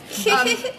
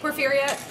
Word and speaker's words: Porphyria: Like poor, like you have no money. Fear, like and like again. And, so yeah, it's good phonetically.